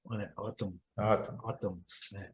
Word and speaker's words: autumn: Autumn. E é esquisito que esse N aqui, ele é mudo, tá?